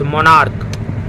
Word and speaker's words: monarch: मोनार्क, MONARCH मोनार्क, इसमें भी CH का क्या आ रहा है, प्रोनाउंसिएशन जो है को आ रहा है।